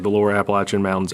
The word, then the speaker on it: Appalachian: um like the lower Appalachian Mountains. Appalachian. How do we say it again? Appalachin. Appalachin. People from North Carolina, Tennessee get real upset if you don't say it correctly.